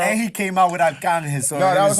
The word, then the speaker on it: Arcángel: I finally got the pronunciation right because I used to always think it was just Archangel.